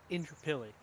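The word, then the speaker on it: Indooroopilly: absolutely knew this one was going to get you because it's actually pronounced Indrapilli.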